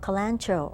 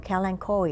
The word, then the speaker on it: Kalanchoe: this is leaf of kalanchoe or kalanchoe II I know both pronunciations are used this is a leaf